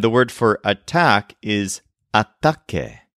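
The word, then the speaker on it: ataque: a fight and the word for attack is ATT spelled a T a quu e for example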